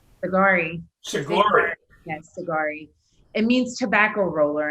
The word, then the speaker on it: Sigari: and how do you say your last name agari yes it means tobacco roller and persian because